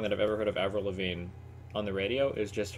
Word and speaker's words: Avril Lavigne: How do you pronounce that? Avril Lavigne. Avril Lavigne.